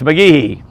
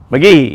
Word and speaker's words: McGehee: Clay, she asked Clay, and Clay said it's McGehee. McGehee. You got to you don't put a big E on the Gee, but you got to say McGehee.